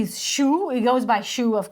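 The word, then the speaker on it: Syu: the band, the guitarist whose name is written S-Y-U, but it's pronounced Shu. Which is like close to Ryu, which I know from Street Fighter.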